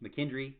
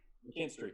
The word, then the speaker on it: McKinstry: Tony Grimes and Quincy McKendry. Did I say it right? McKinstry, yeah. McKinstry.